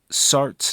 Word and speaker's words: Sartre: pronunciation note here since sart's name is French s-a-r-t-r-e would have a sound at the end of it if pronounced correctly in French but most English speakers